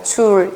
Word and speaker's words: Joule: 자, 이분을 우리가 뭐라고 부르냐면, 이분의 성함이 Joule. 우리나라 말로 줄이라고 읽습니다. 줄.